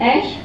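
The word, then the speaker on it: æ: The grapheme, we pronounce it as ash, came to stand as a full letter on its own.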